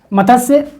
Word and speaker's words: मत्स्य: से जान सकते हैं मत्स्य इसको मत से बोल सकते हैं मत से इसका सही उच्चारण है ठीक है मत्स्य 6000 ठीक ये इस